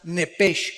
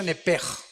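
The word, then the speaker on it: נֶפֶשׁ: Apúntala como suena nepesh con sh se pronuncia nepej.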